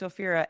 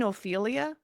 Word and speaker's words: Ophira: Uh but I get I get people I say my name's Oira and they say to me, this has happened twice. Do you mean Oilia?